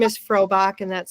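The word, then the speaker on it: Frohbach: My last name is Frobach and that's spelled F R O H B A C H.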